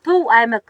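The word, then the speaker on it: Төв аймаг: 도 알막. 뒤에 B 발음이 안 나버리네요.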